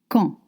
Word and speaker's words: quand: Let's start with quand. Q-U-A-N-D. It means when. Remember, Q-U makes the sound K. En is a semi-vowel with your mouth open. En. And you don't pronounce consonant at the end of French words. Quand. Quand.